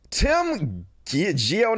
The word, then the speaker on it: Tim Gionet: Tim Gionet, that's how you pronounce his name, who calls himself Baked Alaska,